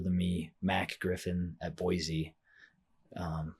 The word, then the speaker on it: Boise: Um I guess I said it wrong, Boise. Boise. That's so my sister I was Same my sister lives in Boise now. Boise now. I was saying Boise, she corrected me quick.